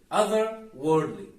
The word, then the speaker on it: otherworldly: will understand better actually but the way native speakers do it is they partially drop the R so they kind of pronounce it like this other Wordly other worldly otherworldly you can see there is a little the r is a little bit light as you can see